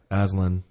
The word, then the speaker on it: Aslan: We're going to talk about Reza Aslan. Is that how you pronounce his last name?